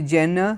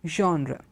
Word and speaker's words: genre: find different alternative pronunciations some of them say Jenna someone will say Jonah and so this it's very very different how it's pronounced but the word is a French word and the French have a slight aspiration sound coming it's genre a genre genre okay so that's how that word is pronounced it's on Jonah or Jenna it is Andra then the pronunciation is